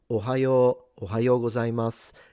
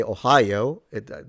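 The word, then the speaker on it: おはようございます: So konnichiwa and ohayo gozaimasu, if you want to say it like them. Not a big deal, even if you say Ohio, they'll understand it, but it is a lengthened vowel.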